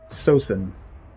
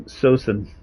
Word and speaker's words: Saosin: Is it Sosin or Sausen? So we'll just click on You're Not Alone. BTW, maybe I can help you out with your branding / graphics. Bury your head. Bury your head. It's pronounced Seosin.